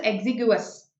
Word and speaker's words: exiguous: This is pronounced as exiguous.